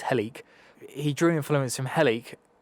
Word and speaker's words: Helike: Helic or Heliki is spelled Helike, so he-like, basically. I think it's Helic.